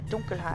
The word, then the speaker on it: Dunkelheit: correct pronunciation would be Edelstein der Dunkelheit.